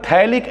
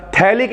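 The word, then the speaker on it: phthalic: एक तो चाहिए होता थैलिक एनहाइड्रेट इसे पिथाइल ना पढ़िएगा पीस साइलेंट होता है थैलिक अनैड्रॉयड साथ में फाइनल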